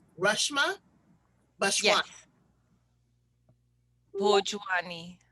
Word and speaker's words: Bhojwani: Now, let me make sure that I am pronouncing your beautiful name correct. It's Reshma Bhojwani. Yes. Bhojwani. Bhojwani.